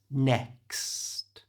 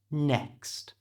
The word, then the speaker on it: next: use the word next if you have trouble pronouncing the X in English just think of it as a KS so it's next next you try next another